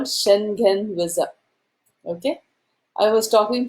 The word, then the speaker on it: Schengen: You go online and say how to pronounce Shen, whatever, and they told me Schengen. That's how they told me. So I pronounced it as Schengen.